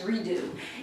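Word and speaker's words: Re Deux: And this is Redo is spelled R-E space D-E-U-X, Redo.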